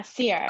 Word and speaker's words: Ceirra: about called Commons, and it is your name pronounced Ceirra? I wanted to ask you before. Is it Ceirra? Yeah, Ceirra, Okay.